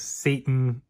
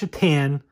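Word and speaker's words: Šatan: I mean, yes, his last name is Satan, but it's pronounced Shatan.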